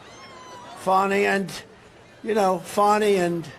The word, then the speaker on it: Fani: fny it's spelled Fanny it's spelled Fanny like your ass right Fanny but when she became da she decided to add a little French a little fancy fny fonny and you know fonny